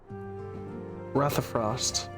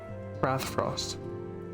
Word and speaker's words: Rathfrost: It is a monument found at Rathafrost. Rathfrost. That's how it's pronounced.